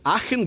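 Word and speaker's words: Aachen: in Denmark and Norway Aken goes at the beginning because it's in Germany and so it's pronounced ah but orus goes at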